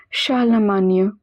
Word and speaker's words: Charlemagne: R in the middle is pronounced as H. GN is always pronounced as near. Charlemagne.